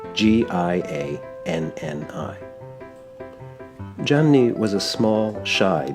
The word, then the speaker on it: Gianni: That's like Johnny in English, but in Italian it's spelled Gianni.